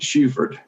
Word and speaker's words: Shufford: And in LaGrange, we pronounce it Shuford, right?